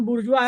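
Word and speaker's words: bourgeois: have को बोला उसने बुर्जी बुर्जुआ प्रोनंसिएशन बुर्जुआ है स्पेलिंग बुर्जी है एक सेकंड हैव हैव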